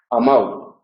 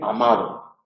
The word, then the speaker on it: amado: es la media posterior, la O, puede llegar a convertirse en semivocal y ahí tendríamos una sinéresis y entonces decimos comprau, amau. Eso es propio de las pronunciaciones de los dialectos más del norte, el español del País Vasco, el español de Cantabria, el español de Asturias, y eso es un rasgo dialectal, no forma parte del estándar. Lo correcto es pronunciar una D relajada que se pueda oír, es decir, amado.